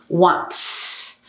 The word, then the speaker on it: wants: So when we add the S, it's an S, but what is the pronunciation? The pronunciation is S. So it's wants, wants. It's like a long tss, tss, together, wants, okay?